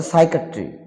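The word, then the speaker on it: psychiatry: মানে মানুষ তত্ত্ব বা মনস্তাত্বিক বা মনস্তত্ত্ব তারপরে সাইকিয়াট্রি সাইকিয়াট্রি মানে মন সম্বন্ধীয় P will be silent P will be silent সাইকি মানে মন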